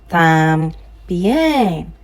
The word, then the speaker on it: también: No, the accent is on the E, so the tam goes down. También.